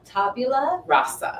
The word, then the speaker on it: tabula rasa: Tabula rasa. Rasa. And Okay. it's spelled Tabula, new word RASA.